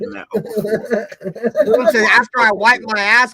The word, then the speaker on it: Okorafor: Okafor. Let's just say Okafor. That's not Okafor. That's Okarafor or some shit. No, that's Okafor. That's how they say it on TV. That's Okafor. I don't give a fuck how they say it. I'm trying to say how it's spelled. Okor4. Okorafor. Okorafor. Okor. Not okra, motherfucker. Okora. Okafor. I like some okra though. I ain't gonna hold you. That R silent. Damn, Loon.